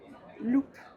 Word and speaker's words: loupe: Par exemple, si vous rajoutez un E après le P, ça veut dire que vous devez prononcer le P. Loop.